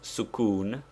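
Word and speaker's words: sukūn: is the use of sukun pronounced sukun that is with the italian oo it denotes the letter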